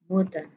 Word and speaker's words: moeten: Dan ini kita membacanya dengan moeten. O dan E dibaca U Indonesia, cara ucap U Indonesia.